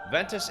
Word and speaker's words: Ventus: Ventus is in classical Latin is also pronounced with a W instead of a hard V sound.